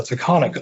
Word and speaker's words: Taconic: It's called the taconic unconformity, but not taconic, TAC, TAGH, etc. Pronounced the same, very confusing, very different unconformities.